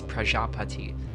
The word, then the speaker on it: Prajapati: My roommate has informed me that it is Prajapati, which is Prajap.